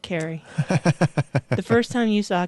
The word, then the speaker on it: Kari: is who Carrie yeah you just say it like that Carrie the first time you